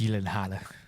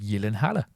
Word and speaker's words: Gyllenhaal: But it's just pronounced Gyllenhaal. Why is it pronounced Gyllenhaal? Gavin's pretentious. Because it's This is like your Smaug thing. It's Nordic, so it's in that whatever country it hails from. It's pronounced Gyllenhaal.